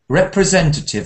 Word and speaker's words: representative: Our representative. That's a long word. Where's the stress pattern? It's a representative. I think it's the third syllable.